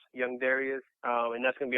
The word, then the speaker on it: Darias: a u so and people always pronounce my name wrong too people call me darus sometimes I try you know I try to let people know you know it's Darius not darus hey and that's what's